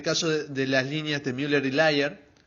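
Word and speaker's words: Müller-Lyer: de las líneas de muler layer se pronuncia así muler layer una línea parece más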